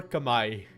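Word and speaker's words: Khmer: What do you Kamar or Kami? I did actually look up uh how it is pronounced by by the speakers of the languages. Kami.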